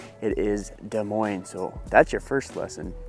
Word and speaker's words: Des Moines: the mo in case you're curious it is pronounced de Mo not Des Moes not Des Moz it is De Moine so that's your first lesson do not make